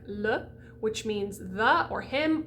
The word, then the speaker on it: le: so the word like le which means the or him or it you're going to do it in a word ma which is me or to me you're going to do